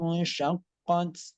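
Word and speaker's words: شقت: Idza sama'u syaqqat. Nah, kemudian nun sukun bertemu dengan shin. Itu hukumnya ikhfa hakiki, disamar-samarkan. Idza sama'u syaqqat. Nah, 3 harakat.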